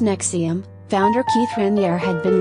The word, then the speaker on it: NXIVM: inner circle confidante of nexium pronounced nexium founder keith raniere had